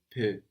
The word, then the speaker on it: peux: I can or I am able in French is je peux. Je peux. And this peux is spelled P-E-U-X. We have that X, that silent X on the end there.